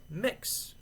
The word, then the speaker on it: Mx: So, in that respect, I use mix or MX period. Uh, in England, it's pronounced MX.